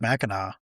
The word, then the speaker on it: Mackinac: They're both pronounced Mackinac, but there's one spelled with a W, one spelled with a C.